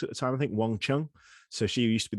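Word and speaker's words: Wang Qiang: it looks like um it looks like like like like wang chiang but it's but it's not it's it's wang chung and so and and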